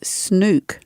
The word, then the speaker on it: Snook: It's Snook. Snook. Yeah, I heard one person once saying this. I thought they've got that wrong. What an idiot. Apparently that's how you say it.